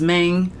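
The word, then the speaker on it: Mane: m oh oh God but pronounced mang M because these kids they can't say what up man they go what up mang M M M okay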